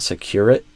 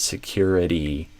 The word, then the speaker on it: security: The cyber security analyst disc I didn't hear the e at the end.